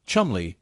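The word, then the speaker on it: Cholmondeley: Chumley, pronounced Chumley in the British fashion, is an eccentric figure even in the strange world of intelligence work.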